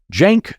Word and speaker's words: Cenk: do me a favor Google Jank Young Turks that's spelled Cen K Young Turks try to find an